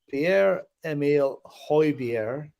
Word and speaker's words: Pierre-Emile Højbjerg: Pierre-Emile Højbjerg, You said it right, by the Philip.